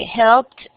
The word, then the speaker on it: helped: Dice helped. No tiene. Bueno, entonces Angie me va a ayudar. Helped, looked, suena como T.